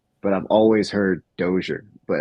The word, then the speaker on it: Dozier: during for my wedding my grandfather um said dosier and my dad um told me that my last name is French German which I never knew and so my grandfather's pronounced it correctly but I've always heard